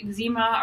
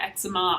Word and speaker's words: eczema: I think in grade 7, I developed eczema around my eyes. And I know some people pronounce it eczema. I say eczema. I think it's a Canadian thing.